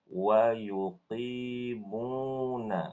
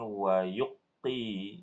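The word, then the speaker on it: يقيمون: Jadi cara bacanya wa yuqimuna. Coba ulangi. Wa yuqimuna. Ahsanti, bagus. Jadi bukan wa yuqti ya Bu ya. Wa yuqti tidak, tetapi wa yuqimuna.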